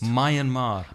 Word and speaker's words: Myanmar: soul myeon Mar Myanmar how does that pronounce my and Mar my and Mar my